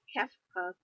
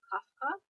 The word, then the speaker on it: Kefka: I'd have to say Kefka. I think that's how you say his name. I heard some people say Kafka, but I think it's Kefka.